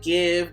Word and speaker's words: GXVE: I also believe you pronounce it give, but I always say GXVE, so there we go.